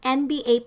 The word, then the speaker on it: NBA: An NBA player died just recently. So we use the article an because NBA is a vowel sounding consonant like N and is pronounced as EN.